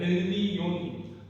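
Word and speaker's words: עליון: 여기서 힌트가 바로 지존자라는 지존자가 그 히브리어음을 그대로 발음을 그대로 얘기하면 엘리온입니다 지존자 그러면 여기이 히브리어를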